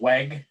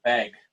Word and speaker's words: WEG: We'll pronounce it WEG here in the U.S., but we're a Brazilian company, and there are many Germans that live in the Brazilian area and work for the company. So sometimes they pronounce it WEG with a V.